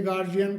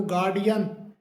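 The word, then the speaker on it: guardian: बच्चे के गार्जियन को बुलाओ। लेकिन ये गार्जियन नहीं होता। इसका सही जो प्रोनाउंसिएशन होता है वो गार्डियन गार्डियन करके होता है।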